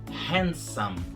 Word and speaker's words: handsome: A pronúncia certa é handsome, sem o D.